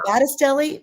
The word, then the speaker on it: Battistelli: Is it Battistelli?